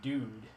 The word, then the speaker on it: DooD: then on this instrument this is called the dude it's spelled do Oh Dee and you can see